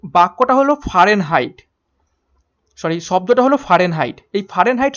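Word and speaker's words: Fahrenheit: Actually উচ্চারণটা হবে ফারেনহাইট, FARENHEIT, ফারেনহাইট।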